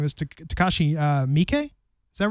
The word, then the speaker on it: Takashi Miike: I'm sure I'm mispronouncing this. Takashi Miike.